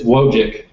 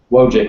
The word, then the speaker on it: Wojcik: How do you say your last name? It's Wojcik. Wojcik? Wojcik, yes. Wojcik.